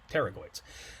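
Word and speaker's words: pterygoids: the medial and lateral terragoids the p is silent it's like pterodactyl terragoids u they will help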